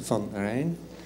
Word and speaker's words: van Rijn: My last name is Van Rijn. Difficult name, but it sounds like the River Rhine.